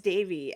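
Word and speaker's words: Devi: was one deie said which it's Davey I think it's Davey yeah that's how they say it on the show yeah um she makes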